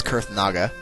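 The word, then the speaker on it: Kurthnaga: And this is Kurth Naga. It's a very strange name, but that's how you pronounce it, is Kurth Naga.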